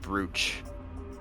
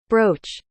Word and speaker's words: brooch: it drives me crazy you pronounce it bro how's it supposed to be pronounced I'm pretty sure it's brooch is it brooch I'm pretty sure I'm pretty sure it's like because I'm pretty sure there's a case and A's attorney where there's a brooch involved and um the anime always pronounces it that way brooch okay it's brooch I'm sorry to be